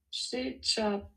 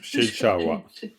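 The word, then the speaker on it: ཤེས་བྱ་བ: Upa Dakayeshe Shechapawa. Non, Shechawa. Shechawa. C'est simple, hein? Le pas qui est Shechawa. dernière syllabe, c'est toujours wa.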